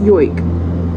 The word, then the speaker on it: joik: birth they are gifted a joik, or pronounced yoik, a song of layered